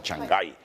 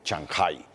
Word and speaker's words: Chancay: mediodía del jueves en chanjay como dice bueno es que así se pronuncia nosotros decimos chancay pero ya Gabriela Lugo está pronunciando correctamente Shanghai ella va a estar